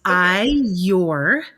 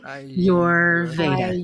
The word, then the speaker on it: Ayurveda: It's close. There's a little trick that I teach people. It's Ayurveda. So it's like Ayurveda. Ayurveda.